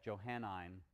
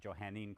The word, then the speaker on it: Johannine: Christianity and we're gonna call that Johan I'm Christianity or somebody we might pronounce - Johanna in Christianity the same thing so this lecture